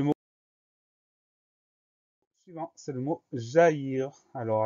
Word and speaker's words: jaillir: Alors attention au son Y de jaillir. On commence par le début du mot. Ja, J-A. Ensuite, on trouve le son Y, jaillir. Et ce son Y, il va s'écrire avec I, 2 L.